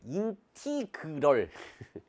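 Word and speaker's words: integral: 인테그랄 fx dx가데 원래 이게 발음도 좀 그래. 인티그럴 원래 그렇게 읽어야 되는데 어차피 우리 영어 발음이잖아요.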